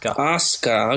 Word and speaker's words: Asuka: Asuka, okay, fuck. Asuka. Well, the SU's not pronounced because Japan.